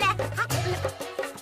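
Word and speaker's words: know: पढ़ाई तो करनी चाहिए ना। Good idea. तो शुरू करते हैं मिशन एग्जाम। और इसीलिए नो में के होता है साइलेंट।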